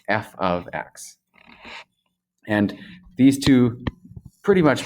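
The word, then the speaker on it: f(x): a symbol f of x so it is pronounced or read f of x and that is saying that this is a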